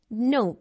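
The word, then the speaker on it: know: sound like जैसे नो नो अच्छा एक चीज आपने देखनी है कि जब भी जो एन है वो के को फॉलो करेगा ना तो के साइलेंट हो जैसे नो नो नॉलेज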